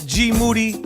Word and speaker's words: Moody: AKA AKA G Moody yeah which rhymes with Duty my name is